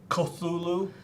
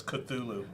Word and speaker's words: Cthulhu: cthulu the blue one the cosulu i've heard it pronounced in many ways i got schooled on the comments last time so it's cthulhu thank you for uh letting